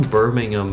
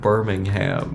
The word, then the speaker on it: Birmingham: you like wrecked my shit for pronouncing it Birmingham. Yeah. Yeah, that's how it's pronounced in America. Well, you can call that one Birmingham, but the one here is Birmingham.